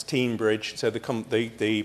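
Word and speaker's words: Teignbridge: tinmouth give or close it's very confusing because it's tinmouth and it's teen Bridge so the com the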